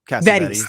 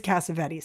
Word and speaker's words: Cassavetes: I say his name wrong all the time because the Greeks would say Cassavetes.